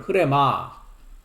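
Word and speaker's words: ῥῆμα: 발음을 흐레마 조금 아까도 제가 언급을 했습니다만은 요한복음 6장 63절의 말씀이 흐레마입니다.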